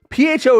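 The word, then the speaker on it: phở: PHO is pronounced. I please tell me I'm pronouncing it correctly.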